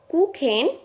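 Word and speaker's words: Kuchen: হবে সূন এবং তারপরেরটা সি এইচ উচ্চারণ হবে খ কুখেন এবং লাস্ট ওয়ান ইফ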